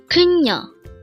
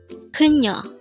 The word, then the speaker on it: 그녀: 그녀. 그녀. This pronounced as a two-syllable word. The first syllable is 그 and the second syllable is 녀.